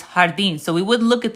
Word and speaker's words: jardín: So it's jardín. So we wouldn't look at this and say jardín. It's jardín because the J's are pronounced like H's in Spanish.